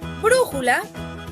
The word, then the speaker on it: brújula: Por ejemplo, en la palabra brújula, la antepenúltima sílaba es bru.